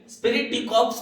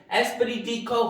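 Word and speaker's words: esprit de corps: तो अब आप देखिए, हम इसको जनरली स्पिरिट डी कॉर्प्स पढ़ते हैं बहुत से लोग, जबकि इसका सही प्रोनाउंसिएशन एस्पिरिट डी कॉर्प होता है।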